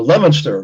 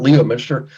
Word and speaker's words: Leominster: pronounced Worcester you know Leominster not Leo Mister so any case uh